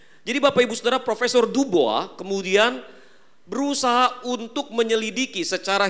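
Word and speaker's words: Du Bois: Bapak Ibu Saudara yang terkasih di dalam Tuhan, seorang pria kulit hitam bernama William Edward Burghardt Dubois ya, bacanya mestinya Dubois.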